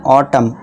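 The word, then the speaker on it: autumn: यदि किसी वर्ड के लास्ट में है तो वहां क्या होता है? एन साइलेंट होता है। एन को भूल जाते हैं। जैसे कि इसे क्या हम पढ़ेंगे? ऑटम।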